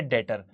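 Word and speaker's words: debtor: यानी यह पर्सन है डेटर। डी ई बी टी ओ आर B silent होता है बेटा। इसको पढ़ते नहीं है और ऐसा ही कुछ लिखा है परिभाषा में भी।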